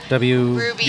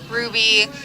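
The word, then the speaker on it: Rowby: And you pronounce it Ruby? Ruby. R-O-W-B-Y? Yep, Ruby.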